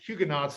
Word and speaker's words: Huguenots: The French say Huguenot, but Huguenots is how you usually pronounce it in English.